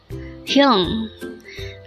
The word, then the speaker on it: 형: HYEONG. This is composed of just one syllable.